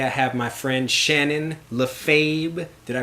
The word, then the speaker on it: Lefebvre: And today I have my friend Shannon Lefebvre. Did I pronounce that right?